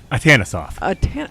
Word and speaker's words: Atanasoff: Atanasoff? Atanasoff. Okay. Had the emphasis on the wrong syllable.